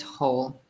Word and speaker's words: whole: So here we don't pronounce the W. We pronounce it the same as whole.